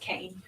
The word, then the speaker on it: Kuehn: pronounced Kane.